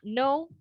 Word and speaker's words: know: Seperti tadi ya, pada kata know and night, ya, know yang mengetahui itu kan ada huruf K-nya di depan.